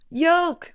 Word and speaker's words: yolk: always on speaker phone how do you guys say egg y l k my mom instantly Yol y yeah and my dad in the background yoke yeah right I mean it is spelled yolk like milk that's what I said